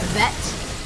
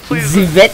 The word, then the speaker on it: Ze Vet: You are actually pronouncing the name wrong, and I think that is very offensive to the people. It's not vet. Am I saying that wrong? It's not vet. Okay. Zivet noodle.